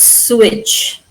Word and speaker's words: sewage: E A E is silent. So there's wage but sewage.